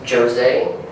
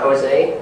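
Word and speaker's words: José: pronounced Jose it's not Jose um he is actually from um he's actually from Brazil so he's actually Portuguese so their pronunciation of words and all that is very different than Spanish um so the first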